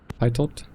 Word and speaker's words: pitot: I have no idea And how we're to done pronounce the that. outside. Pitot.